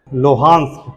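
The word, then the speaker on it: Luhansk: Belarus, Donbas, हाँ very good, ये नाम है लोहांस्क।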